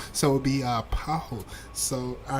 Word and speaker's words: Paulo: Uh, you don't pronounce the L in Sah and Po. So it would be uh paho.